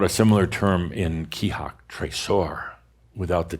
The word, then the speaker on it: trésor: We've talked about a similar term in Kihak, trésor, without the T.